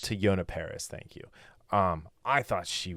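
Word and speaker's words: Teyonah Parris: To Yona Paris. To Yona Paris, thank you.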